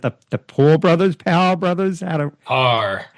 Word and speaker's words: Paur: Paur. It's like golf. Paur. Perfect. It's not intuitive though.